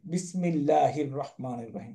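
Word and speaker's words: بسم الله الرحمن الرحيم: তা না আরবিতে একটাকে আরেক সাথে জড়াইয়া ধরে উচ্চারণ করা হবে আপনি এটাকে পড়তে পারবেন না বিসমি আল্লাহি রাহমানি রাহিম না বিসমিল্লাহির ওকে হাগিয়া রকে ধরবে বিসমিল্লাহির রাহমানির রাহিম পড়তে হয় তাই না তাহলে এখানে একটা আলিফ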